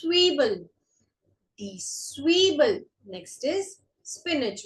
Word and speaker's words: Zwiebel: Z is pronounced as sir. Sir. So this is Zwiebel.